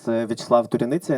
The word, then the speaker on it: Vyacheslav Turyanitsia: Name of Ukraine, and we have with us Vyacheslav Turyanitsia. Did I spell it? Hi everybody, my name is Vyacheslav Turyanitsia and I'm a filmmaker based in Kyiv, Ukraine.